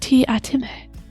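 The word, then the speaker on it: Teatime: oh man that's cool it's pronounced t atime the uh terry pratchett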